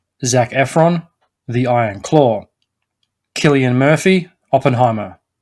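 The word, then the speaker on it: Cillian: be confused with San or chillian Murphy as I have referred to him numerous times before I looked a clip of him up on YouTube saying his name and it is pronounced Killian so I've been saying it wrong for all these years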